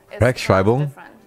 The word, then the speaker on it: Rechtschreibung: Rechtschreibung. If you put them together in a word, they make one different sound. Mm. It's not E, it's I.